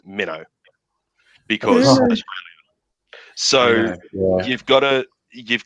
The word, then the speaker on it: Minto: called minto but yeah everybody that lives in minto does not pronounce it minto they pronounce it mino because so you've gotta